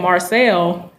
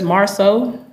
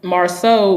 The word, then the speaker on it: Marsau: I'm trying to say his name right because it sounds like people are saying Marcel, but it's Marceau, I guess. Marsau, Scott. And he is the brother to Maurice Scott. And even though Marceau looks older, he's the younger brother to him.